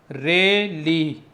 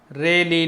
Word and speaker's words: Rayleigh: ये है रेली, spelling note कर लीजिए, RAYLEIGH, रेली लॉज बोलते हैं ऑफ स्कैटरिंग।